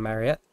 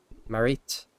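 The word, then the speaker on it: Maritte: Good morning, young Mariette. Marit. I've been saying it wrong. Marite? Marit.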